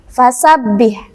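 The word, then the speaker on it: فَسَبِّحْ: Nah, teman-teman, di sini ba-nya bertasydid, fasabbih harus ditekan. Kemudian hak sukunnya ini juga harus ditekan, jangan sampai dipantulkan ya.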